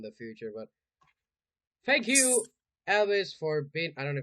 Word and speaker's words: Alvis: any more in the future but thank you Elvis for being I don't know if I pronounced your name right thank you yeah that's